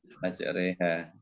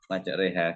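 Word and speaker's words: مجريها: yang dibaca miring ini tulisannya Ma Roha Nggih bacanya maj reha ini ada keterangannya apa ini ya Eh ada istilah tapi lupa Tapi bacanya Ma reha gitu kealian apa itu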